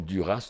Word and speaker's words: Duras: Oui, comme Duras, on devrait dire Dura.